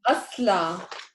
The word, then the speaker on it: أصلع: أصلع.